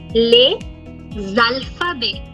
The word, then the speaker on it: les alphabets: The vowel has to, the A is going to pull the S sound. So it will become les alphabets. Zalphabet. Remember the poetic sound, the sonorous sound, the melody. Les alphabets. I'm not saying les. I'm saying les alphabets.